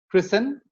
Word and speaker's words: Christen: If a word ends with S-T-E-N, the T goes silent. Christen, fasten, it's listen. And if a word ends